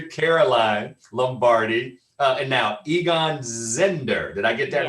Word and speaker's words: Zehnder: alumni big sister Caroline Lombardi, and now Egon Zehnder. Did I get that right, or Zehnder? That's right, Zehnder, Egon Zehnder. All right. I want to make sure I get our pronunciation.